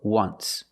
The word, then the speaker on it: once: Phonetically it makes the sound WW like a W. WW WW once.